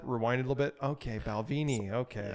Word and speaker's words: Balvenie: I've learned that that's the correct way to I've always pronounce had it. Balvenie.